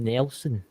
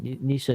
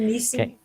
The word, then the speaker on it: Neeson: If Liam Nelson, what is that? Neeson. Liam Neeson. That's I couldn't pronounce that there.